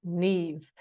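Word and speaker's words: Niamh: my name is Neeve it's spelled n amh but it's pronounced Neeve a good Irish name so I'm not going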